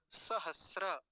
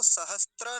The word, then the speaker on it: सहस्र: सहस्र। अब इसको सहस्त्र नहीं बोलेंगे, त्र बोलते हैं ना कई बार, त्र, तो त्र नहीं है, ये सहस्र, स्र होता है ये।